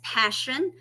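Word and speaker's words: Pashun: so sad y'all and her name is Passion but it is spelled p-a-s-h-u-n you guys I would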